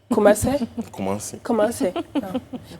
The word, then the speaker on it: Kumasi: Sur le coup, il faut prononcer Kumasi. Kumasi, mon frère. Kumasi, la deuxième plus grande ville du Ghana et capitale du royaume Ashanti.